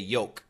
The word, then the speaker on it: yolk: cholesterol is in the Yol that's right y l k now many Americans do not pronounce the L they just say Yol Yol Yol but some